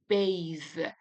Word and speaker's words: bathe: However, there are other actually words that the pronunciation is different than them, like bathe. So now here you can feel the vibration in your throat.